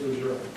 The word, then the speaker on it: Lejeune: I was Southern country boy, Camp Lejeune pronouncing, who's going to speak to correct me. But I know, George, I'm sorry, it is Lejeune.